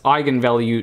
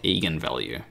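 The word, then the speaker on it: eigenvalue: comes to pronunciation but it's I value not Egan value but apart from that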